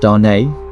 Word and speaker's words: Dane: where they SED their first three children Dane pronounced Dar born in 1849 the first son and two